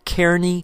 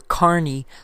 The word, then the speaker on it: Kearney: from General Kearny, and they also began pronouncing it either Kearny or Carney, so it sounded more like the word carnival. When the Donner Party reached